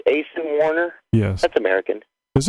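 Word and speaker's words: Aisin: Big Jim, it's Asen Warner? Yes. That's American. Is it? Yeah. Maybe I was mispronouncing the Asen being Asian.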